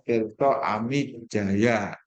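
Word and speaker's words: Tirtaamidjaja: Ya, tulisannya Tirto Amidjaya, tapi bacanya Tirto Amidjaya. DJ itu dibaca J, J saja itu dibaca Y.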